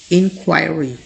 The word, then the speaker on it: inquiry: वो होती है इंक्वायरी, इंक्वायरी। इन पढ़ने के बाद आपने क्वाई पे स्ट्रेस देना है, देन री, इंक्वायरी।